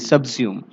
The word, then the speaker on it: subsume: Okay, SUBSUME, सबस्यूम, इसका pronunciation ये था।